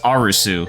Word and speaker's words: Arisu: until afterwards no because they pronounce it and even in the the subs I was reading they they have it as arusu the character's like